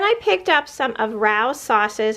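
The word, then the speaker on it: Rao's: picked up some of Rous sauces I think that's how you pronounce it it's r a o apostrophe s I had read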